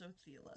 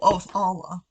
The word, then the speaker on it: Othala: What does Othela say? Oh, Othala. Whoops, my bad. Mispronouncing.